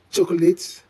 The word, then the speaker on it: chocolate: Many people add an extra syllable, likely being influenced by the spelling. The O in the middle is often overemphasized, making it sound clunky. Whereas, in natural English speech, the middle syllable is almost silent, reducing the word to 2 syllables.